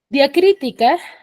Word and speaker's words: diacrítica: no entonces a ver diacrítica tiene cuatro sílabas y la mayor fuerza de voz está en cri que según su posición se encuentra en la antepenúltima sílaba en la antepenúltima sílaba